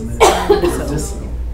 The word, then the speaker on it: medicinal: What's this word? Medicine. Medicine. Oh. Is that how we pronounce it? No. It's medicinal.